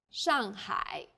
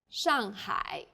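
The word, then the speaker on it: 上海: a word and pinion the pronunciation for the famous city Shanghai is Shanghai the first syllable here is made of an initial and a final and a fourth falling tone the second syllable is made of an initial and a final I and a third falling then Rising tone hi Shanghai well done let's wrap up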